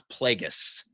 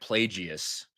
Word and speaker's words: Plagueis: Yeah, the guy who did not know how to pronounce Plagueis, and he was saying like Plagius or something.